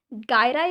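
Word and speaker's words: gyri: गायराई and sulci इन्हें कह सकते हैं और जायरी एंड सल्की भी कह सकते हैं, ठीक है? दोनों ही प्रोनाउंसिएशन करेक्ट है।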